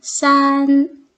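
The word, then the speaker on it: 三: 그다음 싫어하는 숫자는 3자 3자는 싼 산이라고 발음하는데 예 헤어지다 흩어지다 할 때 발음이 싼 예 비슷하지 그래서음 사랑하는 사람하고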